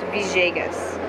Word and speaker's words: Villegas: Now, Where my father's from in Colombia, it's pronounced Villegas.